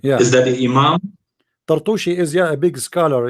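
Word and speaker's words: Turtushi: I don't think his name is Tartushi, but Muslims always they pronounce the names wrongly.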